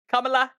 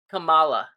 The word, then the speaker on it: Kamala: do you say it you say it Kamala Kamala I say Kamala Kamala Harris because it's k a m a l a Kamala kamla camea whatever yeah I mean no